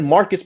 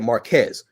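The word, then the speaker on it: Marques: first time you kept you said Marcus Brownlee I said Marquez you ignored him you kept saying Marcus if you can't even respect the man enough to say his name right don't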